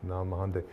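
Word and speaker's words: Nag Hammadi: there and heard something break and found the Nam Mahande, am I saying it right? Yeah, Nam Mahande.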